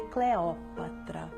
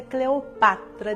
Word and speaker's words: Cleópatra: Ponde tento na acentuação deste vocábulo, senhoras amazonas, pois muito nos pesara não preferisseis conosco essa pronúncia condizente com a lição dos clássicos, a pronúncia Cleopatra, dicção mais moderna e que alguns vocabulistas levianamente subscrevem, sem que se apercebam de que é ganga desprezível, que nos trazem com o enxurro de França, os galiparlas de má